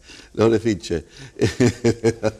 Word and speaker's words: Lorefice: Y se tendría que pronunciar así. Lorefice. Pero está Lorefice, claro.